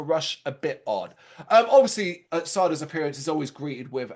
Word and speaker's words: Sardo: Of course, Sardo's magic mansion. Of course, and there he meets Sardo. No, mister. Accent on the dough.